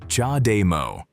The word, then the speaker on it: CHAdeMO: CHAdeMO The name is pronounced "cha day mo".